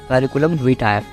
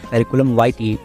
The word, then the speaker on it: curriculum vitae: First one in British English you can pronounce curriculum vitae and second one in American English you can pronounce curriculum vitae।